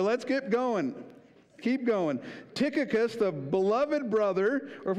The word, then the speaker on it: Tychicus: Tychicus, right? That's the guy's name. So let's get going. Keep going. Tychicus, the beloved brother, or if we want to